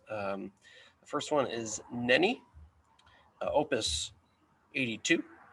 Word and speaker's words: Nänie: confused with nanny yeah there's an umlaut there's two dots over that a they're jairus so the germans pronounce that nani all right we've been